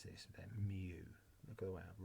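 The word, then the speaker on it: μ: all the x times the p's now we pronounce this then mu look at the way i've written it mu that's how you pronounce this and essentially you'll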